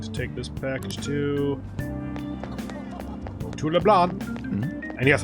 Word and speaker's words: Leblanc: Next I need to take this package to LeBlanc. And yes, I'm pretty sure it's pronounced LeBlanc, not LeBlanc.